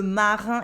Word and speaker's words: marin: In le marin, it is a un sound, an un sound, and marrant, it is a en sound with a silent T.